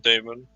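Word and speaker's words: dæmon: says that Damon is pronounced Damon like Matt um if uh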